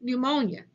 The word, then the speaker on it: pneumonia: PN sounds like N, for example, pneumonia, pneumonia.